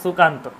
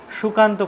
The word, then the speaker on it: সুকান্ত: কিন্তু আসল যে ব্যাপারটা, আসল যদি কোনো ভালো জায়গায় ফেলেন সেখানে কিন্তু আপনার উচ্চারণটা সঠিক হতো, সুকান্ত। সুকান্ত করলে কিন্তু হবে না, তখন হয়ে যাবে সেটা তালব্যস্য।